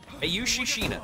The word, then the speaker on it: Ayushi Shina: Ayushi Shina. There we are. That's the pronunciation.